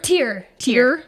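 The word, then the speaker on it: Tyr: isn't it CH oh t y r t tear tear tear yeah like a tear drop okay yep yep the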